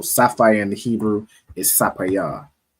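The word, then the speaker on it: ספיר: And how would you say sapphire in Hebrew? Sapayar. Sapayar, Most High Christ. So sapphire in the Hebrew is sapayar, right?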